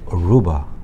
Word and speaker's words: Aruba: 들어서 아시겠지만 루바라는 단어의 액센트는 Aru, R-U 거기에 있기 때문에 Aruba 이렇게 표현한 거예요. 아루바가 아니고 Aruba.